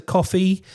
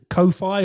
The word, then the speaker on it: Ko-fi: our Buy Us a Coffee account, which is called Ko-Fi or Coffee, depending on how you pronounce it.